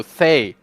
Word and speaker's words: Thay: No, it's a TH, not an F. Oh, Thay.